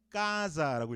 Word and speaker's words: casa: 이거 이태리식으로 읽으면요, 까자라고 읽어야 돼요.